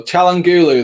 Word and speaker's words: Çalhanoğlu: I know how to pronounce this one as well. Çalhanoğlu, that's it.